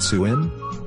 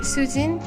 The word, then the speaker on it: Sujin: Or they try to guess it by saying, Is it Suin? Is it Suchin? Is it Suhin? This doesn't happen in Korean. If you write Sujin, they will pronounce it Sujin.